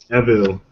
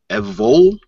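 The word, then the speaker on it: Evel: And for, I'm trying to pronounce the name. Evil. E-V-E-L, Evil. Okay. Evil? Yep. Evol?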